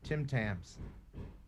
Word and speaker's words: Tim Tams: ordered about a month ago from amazon uh tim tams yeah love them nice am i saying it